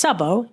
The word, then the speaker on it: Szabó: It's Szabó, S-Z-A-B-O, but it is routinely misspelled and mispronounced.